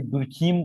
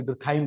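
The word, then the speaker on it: Durkheim: फिर अपने नेक्स्ट जिन्होंने स्थापित किया सब्जेक्ट को, दैट इज इमाइल डर्कहाइम। कोई दुर्खीम पढ़ रहा है, कोई दुर्खाइम पढ़ रहा है ना, नाम में प्रोनाउंसिएशन में कोई प्रॉब्लम की बात है नहीं। Email डर्कहाइम।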